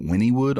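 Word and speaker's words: Wynnewood: I know it as Wynwood. Everybody called it Wynnywood on the documentary, which is strange. I've never called it Wynnywood. Doesn't that piss you off when people pronounce something wrong? Like, dude, you're saying it wrong. Yeah, well, they live there, so I was like, maybe that's what it's called.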